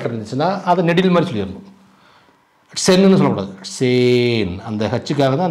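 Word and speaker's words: zehn: இங்கே மாதிரி இட்செட் இட்ஸ் சேன் சேன் இட்செட் சேன் இங்க வந்து ஏ அந்த ஹா இருக்கு ஹச் இருக்கு ஆனா வந்து உச்சரிக்க கூடாது ஏன் ஏன் உச்சரிக்க கூடாதுன்னா இதுக்கு முன்னாடி வவ்வல் இருந்துச்சுன்னா அந்த வவ்வல் நெடில் மாதிரி சொல்லணும் ஹா இருந்துச்சுன்னா அதுக்கு முன்னாடி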